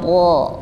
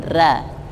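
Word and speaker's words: ر: ro yang im Ya Ro yang tafkhim bacanya ro ro bukan Ra sama juga tho tho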